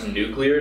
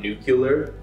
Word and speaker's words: nuclear: qualified in nuclear energy it's actually nuclear not nuclear oh I didn't know